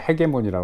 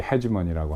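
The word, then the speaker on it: hegemony: 그러니까 우리 이제 발음을 헤게모니라고 그러죠. 한국 사람들은. 여기서 이제 헤지머니라고 하는데, 이런 계산이 서 있는 게 민주당의 글로벌리즘입니다.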